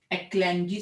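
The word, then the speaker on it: Leclanché: उसको प्रोनाउंस कैसे करना देखो, LECLANCHE, एक्लैंजी सेल, एस नहीं है, एक्लैंजिस।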